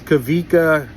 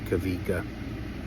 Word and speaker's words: Kawika: It's spelled with the W, but you pronounce it as a V. Kavika, that's a famous song as well.